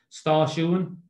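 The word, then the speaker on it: stáisiún: the word sta shuan, it's got two syllables, well, three syllables. Sta ish here. So the A fada pronounced like A, the I pronounced like I, sta sh. And then the second syllable is U fada N, sta shuan.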